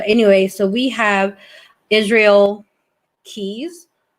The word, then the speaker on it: Keyes: so we have israel keys i want to pronounce it keys it may be kai's but i'm just going to say keys anyways so um he was